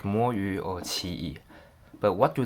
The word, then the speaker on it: Moyu: So as you might think, the first word is pronounced as mo, and the second word is yu.